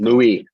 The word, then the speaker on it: Louis: Louis.